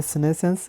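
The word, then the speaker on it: senescence: सिनेसेंस इसको pronounce करते हैं सिनेसेंस।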